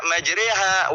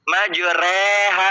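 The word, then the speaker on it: مجريها: Nah, kita bacanya yang re, tapi juga jangan sampai terlalu re, majre. Nah, itu nggak boleh. Majriha, bukan majreha, bukan re.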